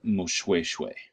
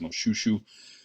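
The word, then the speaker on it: Moshoeshoe: going to pronounce this most shoe shoe the OE diphthong in Bantu languages is pronounced way like W a why a single oh is pronounced as a double Oh usually in Bantu languages southern african Bantu languages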